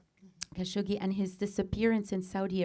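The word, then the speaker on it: Khashoggi: to your friend and colleague, the late Jamal Kosigible. Am I pronouncing it correctly? Kashogi and his disappearance in Saudi Arabia at the hand of the prince.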